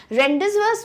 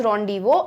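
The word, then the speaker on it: rendezvous: इसका मतलब होता है making it, sorry, this is pronounced as रॉन्डिवो एंड it means meeting place. ठीक है, तो इसको आपको क्या पढ़ना है? रॉन्डिवो पढ़ना है।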